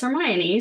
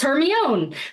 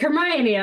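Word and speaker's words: Hermione: I I am American I didn't know how to pronounce hermion so I thought like my friend Teresa and other people it was Heron because that's how it looks like Heron and then the movie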